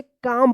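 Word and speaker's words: calm: देखिए यहां पे एम से पहले एल आया है तो क्या होगा कि एल जो है ना साइलेंट रहेगा। तो इसको क्या पढ़ेंगे? काम पढ़ेंगे। यानी ध्यान रखना आप के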